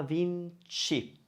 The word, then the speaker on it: Vinci: It's spelled with CA at the end, isn't it? Versace. Leonardo da Vinci.